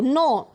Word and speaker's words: know: No. K is silent, student.